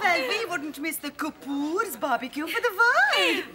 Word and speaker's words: Kapoor: Vanessa you little no how is Master Cooper these days it's pronounced Kapoor right it's traveling all around